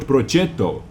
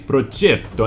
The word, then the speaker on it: Progetto: And by the way, it is not Progetto, it is Progetto M35 Modification 46. This is how you have to pronounce it, in my opinion. My Italian friends are going to back me up. Progetto, not Progetto.